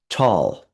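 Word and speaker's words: Tolle: It's called The Power of Now by Ehart Tall. I thought his last name was pronounced to, but I actually did a search.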